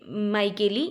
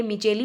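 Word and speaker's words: Micheli: में next scientist है पीए माइकेल या इन्हें कभी-कभी पीए मिचेली भी प्रोनाउंस किया जाता है इन्हें फादर ऑफ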